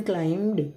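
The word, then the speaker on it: climbed: तो children क्लाइम्ड, बी इसमें silent है, बी का बिल्कुल भी साउंड नहीं देंगे, क्लाइम्ड। The children क्लाइम्ड the hill to सी the beautiful view.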